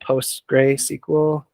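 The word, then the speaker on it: PostgreSQL: uh you can get post gray sequel so this is post gray that's what it's spelled like sql for free you can use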